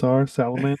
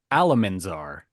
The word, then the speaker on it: Alamanzar: on Salamander. They It's okay, Oliver, because I said it wrong. It was actually Alamanzar.